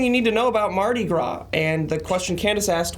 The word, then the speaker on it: Mardi Gras: I keep calling it Mardi Gras, and when I was doing the script, I had to write GRAW so I would pronounce it right.